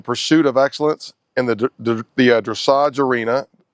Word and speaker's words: dressage: She is currently, she is dedicated to the pursuit of excellence in the dressage arena.